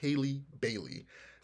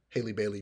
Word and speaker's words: Halle Bailey: time I see it, I say Halle Berry, and it's not Halle Berry. It's Haley Bailey. I hope that's how it's pronounced. It might be Holly, but Haley Bailey.